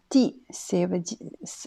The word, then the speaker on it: 地: Ensuite, le de suivant, il y a deuxième prononciation, c'est di. Alors, di, qui veut dire un lieu ou un endroit.